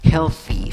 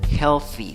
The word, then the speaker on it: healthy: Healthy food. Healthy food. Esa TH es un solo sonido. Pones la punta de la lengua entre los dientes y soplas y dices healthy, healthy, ¿ok?